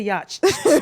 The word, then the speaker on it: yacht: trying to teach somebody how to pronounce yacht yach yach yach all right it's a yacht or read red red